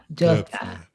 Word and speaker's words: Döpfner: I don't know how to pronounce his last name. You got to write Matthias Döpfner. Yeah, Döpfner.